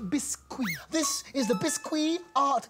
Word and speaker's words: Biscuit: It is pronounced Biscuit.